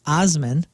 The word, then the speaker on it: Assman: got this nice Mountain picture and it says asman really big now they said it's pronounced Osman they're bison farmers and they make bison jerky